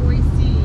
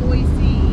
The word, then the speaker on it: Boise: Boise. There's no C in Boise.